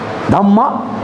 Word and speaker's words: Dhamma: In Pali it is pronounced as Dhamma. In Sanskrit it is pronounced as Dharma.